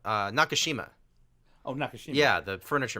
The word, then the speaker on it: Nakashima: was working for George Nagasaki and I say his name right Nagasaki Nagasaki in each city like this no no nakashima open APIs yeah the